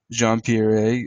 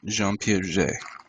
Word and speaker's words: Jean Piaget: Wells active learning theory jean pierre a active learning environments within intellectual development and John Dewey's educational philosophy of pragmatism I became excited when I was speaking correct pronunciation jean piaget thank you during dr.